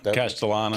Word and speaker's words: Castellanos: How do you pronounce his name? Castellanos? Yeah, Castellanos.